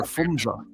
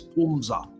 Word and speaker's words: Pumza: Yeah, for a year I called her Fumza, and an English gentleman corrected me and said, the actual pronunciation of her African name is Pumza. You don't use the H.